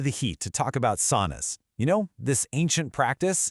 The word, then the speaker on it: sauna: That word sauna, it's actually pronounced sauna. Yeah, it rhymes with wow, not saw.